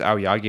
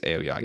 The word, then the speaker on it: Aoyagi: I don't think it's Ayagi. I think it's Aoyagi.